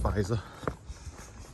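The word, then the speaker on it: Feizor: i've said that right i think it's pronounced pfizer with an f not a pa not a pf it's not german side down this way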